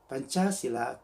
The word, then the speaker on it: Pancasila: title is about Pancasila Pancasila is pronounced as Pancasila it is the philosophical pieces of the indonesian state Pancasila consists of two sanskrit